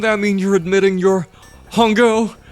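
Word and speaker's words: Hongou: Wouldn't that mean you're admitting your Hungo, the CEO of Cradle, rhymes with Bongo?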